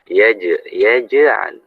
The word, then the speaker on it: يجعل: Yaj'al jangan yaj.